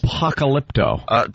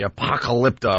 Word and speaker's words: Apocalypto: Can't even pronounce it. Apocalypto. Thank you, Anthony. Apocalypto.